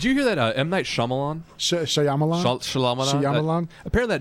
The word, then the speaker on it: Shyamalan: M might Shyamalan shalaman Shyamalan it's Shyamalan believe me I've struggled with this for years and I finally just accepted